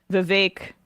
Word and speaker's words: Vivek: I mean, Vivek, rhymes with cake, brought a Sharpie and a notepad and then wrote Nikki equals corrupt.